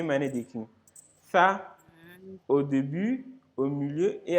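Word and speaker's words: ث: Dans ça, on a dit que ça, il faut prononcer ça en ayant le bout de la langue sortie, au fait. En faisant sortir un peu la langue. Voilà. Pour que le son ça puisse sortir.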